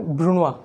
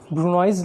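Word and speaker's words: brunoise: French term है जिसको हम लोग प्रोनाउंस करेंगे ब्रूनवा। ठीक है, NOISE, ब्रूनॉइज लिखने में होता है, बट जब इसको हम लोग बोलते हैं तो इसको बोलते हैं हम लोग ब्रूनवा।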